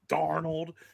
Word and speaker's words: Darnold: say it like that, Darnold.